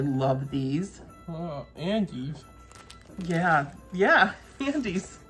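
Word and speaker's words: Andes: Look at those, we got Andy's mint chocolates. I love these. Oh, Andy's? Yeah, Andy's. It's spelled a little different, but that's how it's said, just like you.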